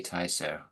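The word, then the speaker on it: Tysoe: do you say it tyo you do say tyo yes anyone to know where tyo is t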